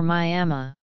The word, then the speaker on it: Myanmar: Depending on the register used, the pronunciation would be Bama or Myama.